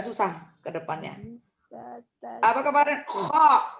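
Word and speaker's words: خ: Kalau di atas titiknya kho. Kayak orang apa? Kalau mau muntah. Kho. Jadi pangkal lidah naik ke atas langit-langit. Kho. Naik ke atas langit-langit sedikit. Kemudian hembuskan dengan nafas. Ya, kho.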